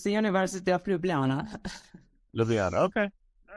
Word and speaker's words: Ljubljana: thank you for having me how do you pronounce the University's name properly sorry uh it's the University of Ljubljana okay all right yeah yeah no problem well